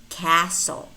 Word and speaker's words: castle: also have words which contain the letter T but it's not pronounced it's silent Castle castle kitchen kitchen although